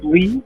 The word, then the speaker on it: Ly: of Vietnam, for some reason we just didn't spell it the way the average person thinks Lee.